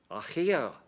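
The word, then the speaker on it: Aicher: I'll tell you how to pronounce it. It's ACHIER. Achia.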